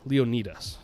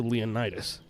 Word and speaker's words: Leonidas: So Leonidas II, Leonidas, I believe is the proper pronunciation.